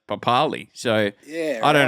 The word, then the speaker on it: Papali: But then also there's a Joash Papali that plays for the Eels, but his name's actually pronounced Papali.